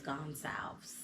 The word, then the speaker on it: Gonsalves: So my last name is Gonsalves. Oh. Right? And how you pronounce it is like salves, or solve a question, but it's salves.